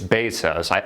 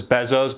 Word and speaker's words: Bezos: It's Bezos. You would think it was Bezos, but I actually checked it out and saw how the CEO of Amazon pronounced it.